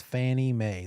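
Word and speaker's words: Fannie Mae: three the most common the oldest one is Fanny May that's the acronym the little um cutesy way of of spelling out and saying out phonetically the acronym of federal National Mortgage Association FNMA stands for also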